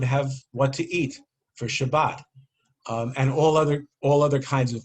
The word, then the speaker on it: Shabbat: I was about to say Shabbos is coming, but it was before Ashkenazic pronunciation, so Shabbat is coming.